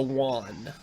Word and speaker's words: yuan: It's pronounced the yuan.